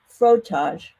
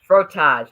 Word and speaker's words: frottage: Now, I want to make sure I get the pronunciation of this word correct. Frottage, correct? Frottage. Frottage, okay.